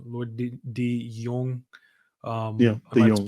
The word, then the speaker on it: De Jongh: It's just his name, Lloyd De Jongh. yeah, Am De I Jong.